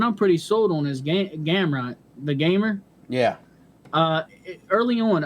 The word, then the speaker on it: Gamrot: It's Gamrot.